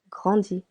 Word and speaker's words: grandit: Il, elle, on grandit. Silent T.